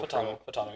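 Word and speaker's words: Fautanu: Futanu? Is that how you say it? The offensive tackle. Fatano, yep, that's it.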